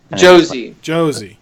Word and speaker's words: Josie: I feel like the last two, Ventress and, is it Rosita or Rosie? Josie, yeah. Rhymes with Rosie.